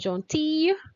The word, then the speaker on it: gentille: Gentil, we pronounce the L a bit, and gentille is like a Y, L-L-E. It's a Y sound for the feminine.